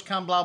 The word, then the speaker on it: Can Blau: all right the sellers can blow up next and this is seller's count blah blah that's how they say it anyways it's from monsanto